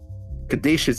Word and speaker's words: caduceus: Caduceus Executive Plan 4 isn't like most people, Counselor. I think that's pronounced caduceus. Caduceus. It is. It's like Greek or some shit.